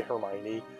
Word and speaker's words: Hermione: That's like when people, like, awkwardly try to say Hermione, but they don't think it's called Hermione. They go, yeah, like, Hermony. Hermonini. Hermony.